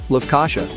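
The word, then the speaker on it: Lefkoşa: will be the nicosia region or as the locals say lufkasha it took the last place only because it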